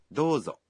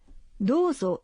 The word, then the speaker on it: どうぞ: どうぞ Dozo is please. When you say どうぞ you say O in the vowel in do one beat longer.